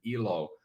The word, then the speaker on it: Elo: So Elo, it means, if we pronounce it Elo, it means life in Finnish. And if we pronounce it Ilo, as some people might, it means happiness. So I was thinking, like, what a great, conundrum.